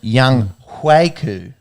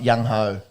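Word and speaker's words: Younghoe: Saints blocked the game-winning field goal attempt there from Young Huiku. Do you know that's sort of the way that you pronounce it? Not Young Ho.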